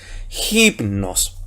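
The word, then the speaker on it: ὕπνος: Entonces sería espíritu rudo J, y como J es consonántico, la Y pasa a ser Y y sería Ji, la Mi que es M, la Ni que es N, omicron que es O y una sigma final. Entonces por eso es hipnos, ¿ya?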